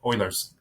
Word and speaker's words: Euler: talked I think I was calling it Euler's eulers hopefully I was pronouncing right but it's Euler's theorem so anyways